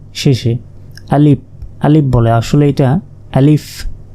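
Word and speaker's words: ألف: আলিফ শেষে ফ, অনেকে প এর মতো উচ্চারণ করে, বাংলা প শেষে আলিফ আলিফ বলে, আসলে এটা আলিফ আলিফ। আর আলিফে কোনো টান নেই, এটা দ্রুত বলতে হবে।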